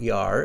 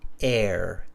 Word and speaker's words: air: It's not yar, it's air, air.